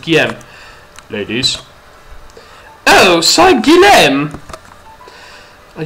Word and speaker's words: Guillaume: Guillaume? I think that's how it's pronounced. Guillaume.